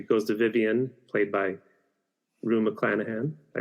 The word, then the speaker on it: Rue McClanahan: upset, and she goes to Vivian, played by Rue McClanahan.